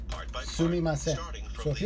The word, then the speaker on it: すみません: The Japanese speaker is going to For repeat excuse this me, word it's part by part, sumimasen.